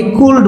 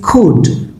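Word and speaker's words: could: এটা অনেকে কুল্ড বলে, কুল্ড, নো, ইটস কুড।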